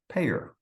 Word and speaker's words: PAEER: The 5 letters are PAEER, and not surprisingly, that is pronounced PAEER.